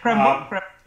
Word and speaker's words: Krembil: I just want to ask you finally about how the Krembil in your research, how is it Krembil? That's pronounced correctly. Yeah, Krembil.